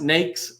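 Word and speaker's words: NAICS: a really important one used multiple ways it's pronounced nakes no other way nakes code like snakes and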